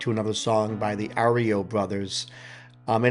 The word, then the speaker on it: REO: It's not Oreo. If I said Oreo, then obviously that was a mistake.